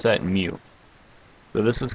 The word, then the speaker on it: mu: little u-shaped thing with a tail and we pronounce that mu so this is called mu and the symbol